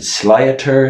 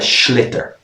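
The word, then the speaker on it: sliotar: people pronounce it awfully it's spelled s-l-i-o-t-a-or people pronounce it slyater sleoter it's called a schlitter so it's a pretty irish word a schlitter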